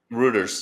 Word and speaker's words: Reuters: Rooters. How do you say it, G? I always screw it up. Routers.